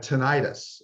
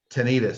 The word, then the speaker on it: tinnitus: so losing a very young age and had tinnitus or tinnitus so you know people pronounce the word tonight is differently but the